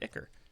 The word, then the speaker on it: ichor: That's how you pronounce the word, Ichor.